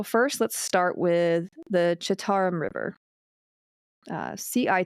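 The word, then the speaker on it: Citarum: okay so so first let's start with the chittaram river uh CI t a r u m it's pronounced the chattar river technically it's the tarum river if you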